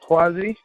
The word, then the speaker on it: Kwasi: raised me um so my name is but my mother pronounced it quasi and um like people